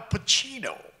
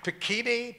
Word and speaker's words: Pacino: is, first of all, he said, Al Pacino. He pronounced my name right. That never happened. I went to a whole school, a public school. They never, Pacini, Pacuno, Pacani, that kind of thing.